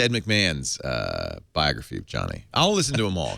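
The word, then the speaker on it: Jony: to just reflexively say Jonie I've been told it's Johnny joh Johnny it's just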